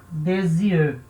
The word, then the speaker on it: des yeux: A gente junta o S com o Y. Isso vai acontecer com o Y também. Então, a gente fala des yeux, tá? Um som de Z.